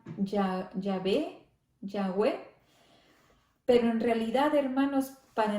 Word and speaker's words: Yahvé: Este nombre Jehová, hermanos, nos dice que los griegos, los judíos y los judíos mesiánicos evitaban pronunciar este nombre sacrosanto porque Jehová lo pronunciaban Yahvé, pero en realidad, hermanos,